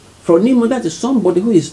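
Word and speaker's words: φρόνιμος: it on the screen though yeah it is pronounced from nemo from nemo that is somebody who is thoughtful understand that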